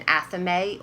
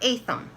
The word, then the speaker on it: athame: holes by the way this is called an athame or a thumb however you want to pronounce it I always work with